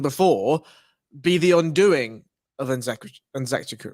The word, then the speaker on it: Nzechukwu: Nzechukwu, thank you.